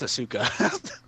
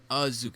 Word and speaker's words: Asuka: Robert thinks it's Asuka. Well, it's not one. It's not a bazooka. It's just Azuka. It's just one.